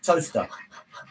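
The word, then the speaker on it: Towcester: that's another one um toister pronounced toaster yeah there is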